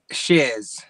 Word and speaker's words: Sears: Shears? Shears. That's how Shears, yeah. Chad Sears, yeah. Shears. Like head shears.